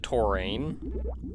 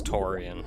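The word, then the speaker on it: Tourian: which is curious as a child i always pronounced it taurane and admittedly i think taurean sounds better but it's i a n it's taurian there's a save point just to the right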